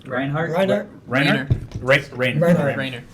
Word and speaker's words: Reiner: Rainer. Reinhardt. Rainer. Rainer.